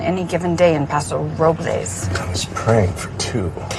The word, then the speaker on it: Robles: going to Paso Robles they call it us approvals well the correct pronunciation is Robles but they call it